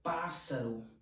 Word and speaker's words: pássaro: Outra palavra, pássaro. Você escreve com dois S, mas quando fala, é como se tivesse apenas um único S.